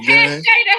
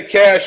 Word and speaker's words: cache: Do you say cash or do you say cachet? I say both, depending on where I'm, what I'm doing. I say cash or cachet.